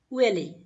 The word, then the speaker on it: huele: Huele. Huele. Huele. Smell is huele. H is silent. So, huele.